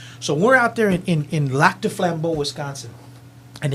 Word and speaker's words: Lac du Flambeau: So we're out there in Lac du Flambeau, Wisconsin, and it's about a 2-hour drive.